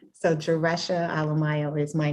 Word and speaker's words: Alemayehu: of ethiopian descent and in order to kind of remember what it sounds like because it's spelled differently than how it sounds i tell people to think of alleluia and cinco de mayo so it's ale mayo um so jaresha